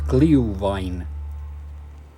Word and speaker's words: Glühwein: A bit of glee with rhyming the sound glue, so it's Glühwein.